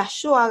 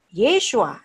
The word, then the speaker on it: Yeshua: bener gitu kan Karena Dia membacanya yahshua karena Yes waktu yahwe yahshua itu bukan bahasa Ibrani Hai dan itu bukan Cara pengucapan nama Yesus yang benar yehosua yeshua Yosua menjadi Yes white ibarat